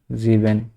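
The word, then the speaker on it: sieben: জিবেন এই যে জিবেন হুন্ডার যেহেতু সাচর ঘরে আছে তারপরে নয়ন এই যে এই নয়টা উচ্চারণ করব and sorry wound Nayan cis এইযে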